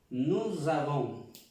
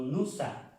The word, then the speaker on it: nous avons: Nous avons, recalcar la pronunciación aquí de esta S con esta A, nous avons, no nusa, no es nusa, nous avons.